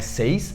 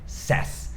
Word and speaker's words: says: É a mesma escrita, só coloca um S no final, só que muda completamente a pronúncia. Não é says, é says.